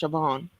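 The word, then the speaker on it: Siobhan: it's spelled it's pronounced sioban it sound like it's a v in there it's like the the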